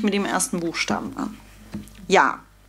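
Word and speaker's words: Я: Ja. Ja heißt ich, ausgesprochen ja. Ich heißt auf Russisch ja. Ein Buchstabe nur, der letzte im Alphabet.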